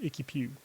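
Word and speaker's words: IKY PW: I'm going to pronounce it Icky Pew. It's IKY space PW. For me, that's Icky Pew.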